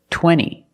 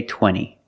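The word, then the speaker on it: twenty: But a lot of Americans will pronounce it center or this word 20. You can say 20 or you can say 20. Most Americans will say 20.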